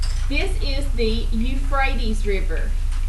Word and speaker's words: Euphrates: This is the Euphrates River. E-U-P-H-R-A-T-E-S. I'll spell it again. Right here. Hang on. Let me erase some of this. Okay, the Euphrates. E-U-P-H-R-A-T-E-S. The Euphrates River.